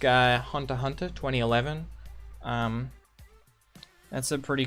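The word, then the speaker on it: Hunter × Hunter: yeah i think uh um hunter hunter or hunter x hunter um but it's pronounced hunter hunter 2011 he's pretty good anime um if you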